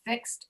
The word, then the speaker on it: fixed: So you'll notice if you hear me pronounce these two sounds, fixed and dreaded, the last sound is coming from the letter D, but it sounds different in those two words.